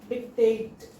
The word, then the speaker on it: dictate: A plus E, A dick dick dic- dic-tate Okay? Syllabification is dick- tate. Two syllables are there. Word stress is on second one. Dic-tate. Dic-tate. Tate is more stressed.